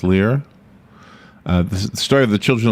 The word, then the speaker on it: Lir: Maybe pronounced Lear.